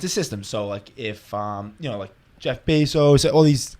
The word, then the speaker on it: Bezos: So if Jeff Bezos, all these, how do you say his name?